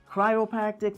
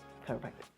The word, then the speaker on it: chiropractic: so some people know they're like cryopactic they don't know how to pronounce that so this is the therapy and this is chiropractic